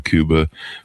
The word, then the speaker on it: Cuba: They they talked in there about the Kuba Bay of Pigs. Am I pronouncing Kuba right?